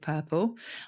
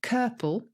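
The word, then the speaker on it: curple: i remember when caesar revealed which word does rhyme with purple unfortunately i don't remember what that word was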